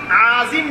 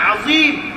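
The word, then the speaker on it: عظيم: সামি আল্লাহ না, সুবহান রাব্বিয়াল আযীম। আযীম না, আযীম। আইনের উপরে জবর, হরকতের উচ্চারণ সামি আল্লাহ লিমান হামিদা না, সামি আল্লাহ লিমান হামিদা।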